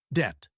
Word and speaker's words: debt: So it's receipt psychology that P at the beginning gone it's cyolo guy and finally debt silent b making it simply dtt key these silent letters